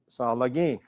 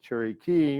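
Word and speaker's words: Tsalagi: on the board and you will see lagi that is the way the cherokees pronounce their name and instead of cherry key and you write it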